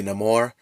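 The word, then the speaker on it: Namor: uh bringing in this character of Neymar uh or how they pronounce in the movie no more um honestly was great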